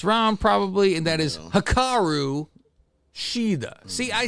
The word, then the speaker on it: Hikaru Shida: probably, and that is Hikaru Shida. See, I say try to be proper on this, Faust, instead of Ashida. Yeah, every time I want to say it like Tony Storm, Hikaru Shida.